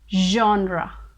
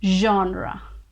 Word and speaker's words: genre: it is pronounced as genre genre you get this ja sound in the beginning so it is genre genre i know you